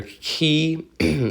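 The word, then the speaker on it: chi: capital I and then your key or k depending on whichever way somebody pronounces it just a capital x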